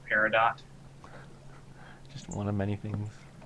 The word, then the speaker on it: Peridot: Parado, parado. In America, we pronounce it Peridot.